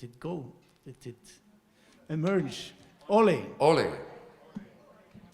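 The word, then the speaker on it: olé: it emerge ole ole the stress is on the o o yes we don't say ole in Spain Ole because it's a burst it's an explosion so the first letter is the one that is stressed H so about the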